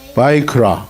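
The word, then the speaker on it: ויקרא: 그 다음에 레비티커스는 뭐라고 읽어요? 바이크라.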